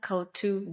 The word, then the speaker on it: Couto: can they find you I am at cotu design everywhere anywhere I'm going to spell it out because you know Portuguese names so